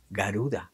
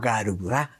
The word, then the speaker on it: Garuda: symbols We have also heard of the ship Garuda or Garudá, which is how it is pronounced, what is a superior Vimana not compatible